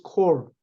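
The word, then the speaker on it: corps: 지휘자 지도자들 집단에 리스 콜 여기 코어는 s를 발음하면 안 돼요 콜 피도 안 하고 에스도 안 해요 콜 이 집단을 집단에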